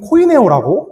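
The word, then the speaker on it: κοινωνέω: 이 공급하다라는 말은 코이네 헬라어로 살피면 코이네오라고 읽고 있습니다.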